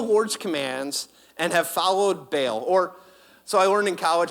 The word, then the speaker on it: Baal: "You have abandoned the Lord's commands and have followed Baal." So I learned in college, I had a professor much smarter than me. He studied linguistics at UCLA, PhD, and he actually taught me that it's Baal.